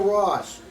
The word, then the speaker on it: Ross: Well, I'm Ross. It rhymes with Doss.